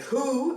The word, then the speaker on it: who: W como what, why, where, when o, aunque who es una notable excepción, ya que en este caso es la W la que no se pronuncia y la H si lo hace, como una J española suave.